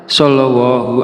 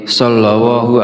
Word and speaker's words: Shallallahu: Perlu diingat, terkadang ada kesalahan dalam pelafalan seperti shallallallahu ala Muhammad sallallahu alaihi wasallam. Oleh karena itu penting untuk melafazkan dengan benar.